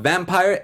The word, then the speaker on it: Vampyr: But next week's film is a 1932 film called Vampire. It's spelled Vampyr.